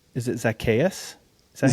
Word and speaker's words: Zacchaeus: So, Zach, correct me if I'm wrong, but your full name is it Zacchaeus? Is that how you say it? Zacchaeus.